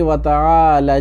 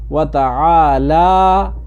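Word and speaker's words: وتعالى: ٹھیک کرنے کے لیے کچھ لوگ پڑھتے ہیں وتعال جدک، وتعال جدک، اب یہاں پر یہ نہیں ہے بلکہ وتعالی، لام کو کیا کرنا ہے اس کو لمبا کرنا ہے، ٹھیک ہے،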